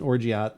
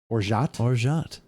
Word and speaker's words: orgeat: Wait, I don't even hear the T at the end. Did you? Orgeat. Orgeat. Well, but if you look at the pronunciation, though, their T is there. Orgeat. Do it slow. This is weird. Orgeat. Oh, there's the T.